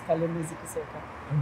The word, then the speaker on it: Kalema-Zikusoka: You can feel free to pronounce it how you would pronounce it. Yes, it's fun. Dr. Gladys Kalema-Zikusoka.